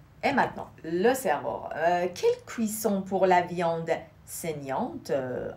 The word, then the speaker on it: cuisson: Quelle cuisson pour la viande saignante à point? Quelle cuisson? Deux S, ça se prononce S.